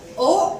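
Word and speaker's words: haut: Now H-A-U-T becomes O. Because H is silent in the French language, AU has a sound of O, T we are not going to pronounce. So this becomes O.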